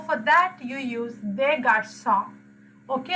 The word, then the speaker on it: garçons: So for that you use des garçons. Okay, although you are adding s at the end to make it plural, you don't pronounce it. Normally s's at the end of the words we don't pronounce.